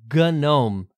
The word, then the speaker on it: GNOME: Journey let's focus on the gome desktop project yeah you heard that right and indeed gome spelled with all capital